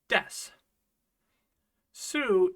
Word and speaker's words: desu: sushi Des sushi so why aren't we making the o sound when we say Des Sue is just a bit special in Japanese you can sometimes get away with dropping the o sound at the end of su but only if it comes at the end of a word and then that word kind of usually has to be a verb and sometimes it only